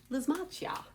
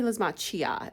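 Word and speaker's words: Lysimachia: It might be Lismachia. It's got the CH, but I like to pronounce that as a K.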